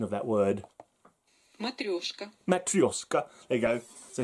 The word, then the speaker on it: Matryoshka: Let's listen to the proper pronunciation of that word. Matryoshka.